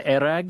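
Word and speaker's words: airag: I have had many a crack at so they pronounce it there erag. Yeah. When I was in Kazakhstan, another place they call it kumus, but in Mongolia it's erag.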